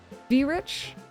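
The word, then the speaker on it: Verich: am I saying wait I think I'm reading that name wrong no I'm not there's an R there V Rich very rich I don't know he's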